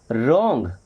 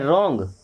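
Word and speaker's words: wrong: रॉन्ग भाई डब्ल्यू को हम ले ही नहीं रहे हैं। रॉन्ग रॉन्ग मींस होता है गलत।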